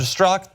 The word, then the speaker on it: Strzok: Is it Strzok? The Z is just for fun.